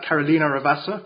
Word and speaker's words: Carolina Ravassa: I'm here with Carolina Ravassa. Going to make sure I pronounce it correctly.